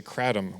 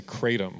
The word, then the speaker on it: kratom: Kratom or so on the East Coast where I'm from we say kratom with a soft "a" out in Portland it seems like most people say kratom with a hard "A" and then if you're